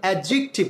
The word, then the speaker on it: adjective: আমাদের দেশে আমরা ছোটবেলায় শিখেছি অ্যাডজেক্টিভ, no this is wrong, So the right pronunciation of this word is adjective. Or the dita, D ekhane silent letter.